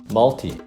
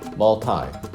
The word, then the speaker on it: multi: poly, multi 혹은 multi 이렇게도 발음하는데요.